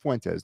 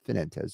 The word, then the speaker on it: Fuentes: And Fuentes, this is Fuentes, not Finentes. This is Fuentes.